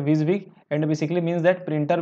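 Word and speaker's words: WYSIWYG: is what you गेट जैसे कि इसको विजिंग विज विग भी बोल देते हैं है ना प्रोनाउंस में क्या बोलते हैं इसको विज विग इतना सारा बोल पाना टफ हो गया इसलिए विज विग and basically means that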